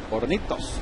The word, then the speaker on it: Hornitos: Keith, would that be Hornitos or Hornitos? H is silent in Espanol. Hornitos.